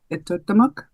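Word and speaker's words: Etuaptmumk: Yeah, it's pronounced Itotamuk.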